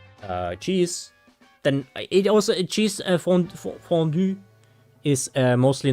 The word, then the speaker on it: fondue: Which you guys would pronounce fondue. Or something like this. But it's French, guys. Fondue.